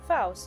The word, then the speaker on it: Faust: Same way as in Polish. Faust, okay. I wasn't sure if it's like, because you know, like certain words are pronounced a bit differently when you say it in English.